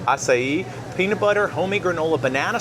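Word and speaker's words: açaí: Asai. Acai.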